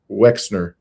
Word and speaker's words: Wexner: Yes, I'm mispronouncing his name. Uh Verina, thank you. His name is Wexner.